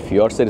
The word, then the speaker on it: fjords: এই ফিয়র্ডসের স্পেলিং কিন্তু FJORDS, উচ্চারণটা হয় ফিয়র্ডস।